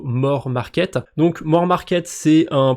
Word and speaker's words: Moar Market: Ça s'appelle Moar Market. J'imagine qu'il faut le prononcer plutôt More Market.